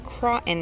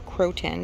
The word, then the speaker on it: croton: It's croton in there, or croton, depending how you say it.